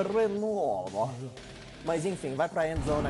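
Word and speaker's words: Reynaud: Tem um nome meio francês. Renaldi. Mas a pronúncia é Renault.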